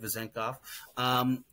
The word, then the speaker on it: Vezenkov: They traded Jalen McDaniels, for the 45th pick, but also for Davion Mitchell and Sasha Vezenkov. I think I said it right, Vezenkov.